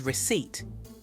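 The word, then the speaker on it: receipt: this together one first underline the silent letters in these words knowledge castle and receip did you get them the silent k t and P they're all hiding in there to now write down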